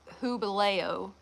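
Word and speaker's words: Jubileo: U B I L E O, but it's pronounced hubo, which is um stands for jubilee in Spanish.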